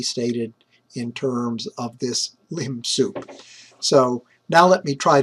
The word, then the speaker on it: lim sup: And in exactly the same way, to define the lim sup, that's how everyone pronounces it, we look at the supremum of the set considering only elements beyond element capital N.